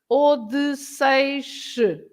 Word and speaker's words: Odysseus: Yeah, but it's Odysseus.